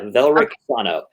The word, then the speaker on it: Velrik Sano: Just so I'm pronouncing, your character's name is Velrik? Yeah, Velrik Sano.